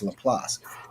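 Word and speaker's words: Lapeer: you piss yeah no when people read it people always say look place because it's spelled l-a-p-i-c-e so people call it little plates but it's actually french so it's laplace don't call it the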